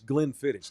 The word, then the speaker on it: Glenfiddich: So it's Glenfiddich, like it's spelled.